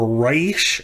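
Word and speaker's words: ריש: is the hebrew letter or reish as you might say if you're very americanized i'm still working on my pronunciation remember that with the with the the r sound isn't up toward the front of your tongue it's in the back well that's the sound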